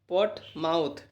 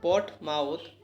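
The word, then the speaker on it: Portsmouth: तो दोस्तों treaty of पोर्ट माउथ। ठीक है, एस साइलेंट है दोस्तों। ट्रीटी ऑफ पोर्ट माउथ यानी कि पोर्ट माउथ की संधि में रूस जापान युद्ध का अंत हुआ था।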